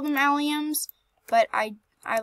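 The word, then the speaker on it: allium: how they're pronounced but I call them aluminum and I don't care if you guys spam in the comments yelling at me it's not aluminum it's alium I don't care I call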